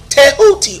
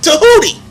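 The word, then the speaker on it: Tehuti: transliteration of his name the egyptian way of pronouncing his name is tahuti or tahoody and you can look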